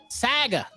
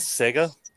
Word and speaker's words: Saga: I'm pretty sure it's Saga. It's not. It's not how you say it. Saga. You sure not Sega? No, it's Saga.